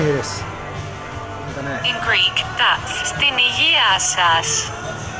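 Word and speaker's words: Στην υγειά σας: In Greek, that's Stinigiasas. Stinigiasas.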